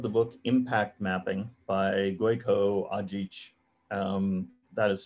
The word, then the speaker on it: Gojko Adzic: One other recommendation that I think is often overlooked, I really love the book Impact Mapping by Gojko Ajic. That is spelled Gojko Adzic.